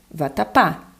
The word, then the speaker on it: vatapá: fala mesmo você fala vatapá né então como você fala a última sílaba mais forte você fala vatapá né você vai ter aqui